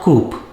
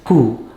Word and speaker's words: coup: a receipt for your payment it is not coop it is who pakistan has had a lot of military coups